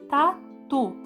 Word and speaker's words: tatu: grifei aqui para você tá tu Qual que é a sílaba que nós pronunciamos como mais força é o tu então é uma sílaba